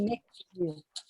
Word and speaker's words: McHugh: Madame là, pouvez-vous me dire comment on prononce votre nom de famille comme il faut? Bonsoir tout le monde. McHugh.